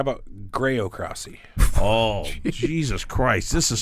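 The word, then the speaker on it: graocracy: got here how about groc crossy oh Jesus Christ this is so easy spell it g r a o c r a c y c well Cy is uh like democracy by exactly by the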